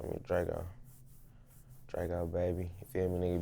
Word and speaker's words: Drego: with with your name Drago do people ever mispronounce it dra a lot of say Draco lot of nigas a